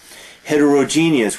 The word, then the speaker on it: heterogeneous: Heterogeneous, we have the same root, the same prefix here, hetero, other. Heterogeneous and homogeneous, often mispronounced, homogeneous, heterogeneous, E-O-U-S.